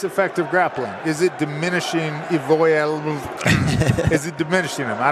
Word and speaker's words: Evloev: Evloev is what it is. Evloev. He's John Hack's brother. So I get in big trouble, but I was saying punch that second okay. syllable. You focus on that syllable. Evloev. You're in business.